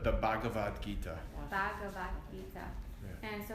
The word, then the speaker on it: Bhagavad Gita: You can say the Gita, but the Bhagavad Gita.